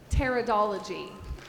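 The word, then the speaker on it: pteridology: t-e-r-r-a-d-o-l-o-g-y i'm so sorry this is a silent p p-t e-r-i-d-o-l-o-g-y edward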